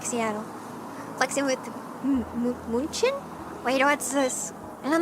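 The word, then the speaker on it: München: Munchin is Munich.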